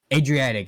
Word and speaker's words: Adriatic: how do you say are dark the Adriatic Adriatic okay Adriatic um the only pilot brave enough